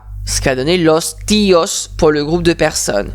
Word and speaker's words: tío: Attention, accent sur le i, très important. El tío, la tía, los tíos. D'ailleurs, on l'écoute à la prononciation, on écoute l'accentuation du i.